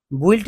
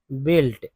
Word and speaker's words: built: अब देखिए लिखा है भाई BUILT, तो BUILT पढ़ते क्या है, बुइल्ट नहीं पढ़ते हैं, पढ़ते हैं बिल्ट। इसका मतलब ये हुआ कि जो ये यू है ये साइलेंट है, ये यू क्या है, साइलेंट लेटर है, ठीक है, तभी तो बिल्ट पढ़ते, BILT बिल्ट नहीं हुआ क्या, यही सही उच्चारण है।